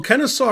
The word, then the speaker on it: Kennesaw: in what about canister kennesaw had such a lull man truth hurt well kenneth saw rhymes with law so all right black